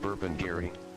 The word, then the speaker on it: Burpengary: Yes, it's exactly how you say it, Burpengary.